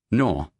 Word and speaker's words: naur: Taz says, "Nor." For those who do not know, nor is the Australian pronunciation of no.